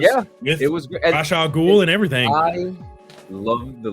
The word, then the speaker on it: Ra's al Ghul: To be honest, Me personally, it's always going to be Ra's al Ghul. That's how I've always known it is pronounced.